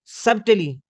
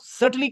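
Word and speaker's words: subtly: Story में उर्दू के लिए सरकारी सपोर्ट की कमी, पोस्ट इंडिपेंडेंस पॉलिसीज को सब्टली नेगलेक्ट को सटली क्रिटिसाइज करता है। यहाँ बी साइलेंट होता है।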